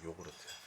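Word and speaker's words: ヨーグルト: En japonais, la prononciation de « yaourt », c’est « yoguruto ».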